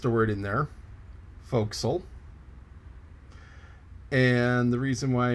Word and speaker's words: forecastle: the front part of the ship and it's pronounced foxel and i goofed that one but i learned